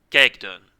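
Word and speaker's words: Kijkduin: one even though the name is very short gag done so gagdan is the name of a small village in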